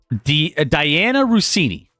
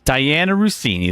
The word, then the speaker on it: Diana Rossini: So there were some interesting photos taken with pictures of him and a Diana Rossini. Is that You who? did it. You pronounced it correctly. Diana Rossini. There we go.